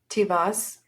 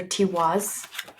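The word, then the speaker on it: Tiwaz: Tivas. Or Tiwas. Yeah, I think they pronounce W's as V's.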